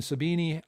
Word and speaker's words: Sabine: I mean, Sabina, I think is the way you pronounce it in Germany.